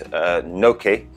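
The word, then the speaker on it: Knokke: I'm not good at pronunciations, but it's, I think it's Noke, which is K-N-O-K-K-E.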